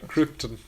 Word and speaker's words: Krypton: Or, sorry, it's pronounced Krypton, according to Jor-El. Oh, yeah. Yeah. Krypton.